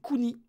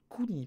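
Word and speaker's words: くに: J'ai confondu Ke et Ni. Parce qu'ils ont le même début, pardon. C'est Kuni. Kuni, pardon. Kuni.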